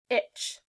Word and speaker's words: ITCZ: Scientists call this rain belt the Intertropical Convergence Zone, ITCZ, pronounced itch.